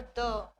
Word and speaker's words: the: बट क्या होगा जब वोवेल साउंड यूज किया जाएगा द के आगे, vowel sound after द word द, तो उसको आप क्या प्रोनाउंस करेंगे, दी, ठीक है।